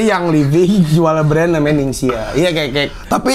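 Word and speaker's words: Ningxia: Ning bacanya gimana nih? Ningsia.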